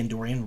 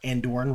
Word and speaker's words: Andoran: season three we're definitely getting the endorian Royal Palace or andoran Royal Palace so it's corrected on my pronunciation of that last video sorry about that indoor